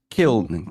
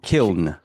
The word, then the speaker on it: Kiln: It's Kiln. Kiln. So Kiln is Kiln. Well, you could play on it, right? Because you're killing each other, right? Right. But it is kiln, and kiln is an oven that they use to harden clay.